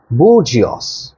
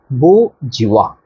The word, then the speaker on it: bourgeois: Alright, the very next word is bourgeois. Bourgeois. Bourgeois. Don't pronounce the S and the end.